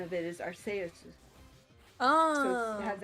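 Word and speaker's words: Arceus: um arus I know a lot of people pronounce it archus with the hard SE um I've always said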